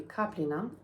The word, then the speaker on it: Kaplina: Actually, you can pronounce both my surname and my name in different ways depending on the language you use. So the actual pronunciation of the surname would be Kaplina, and the name can be pronounced, whichever you prefer.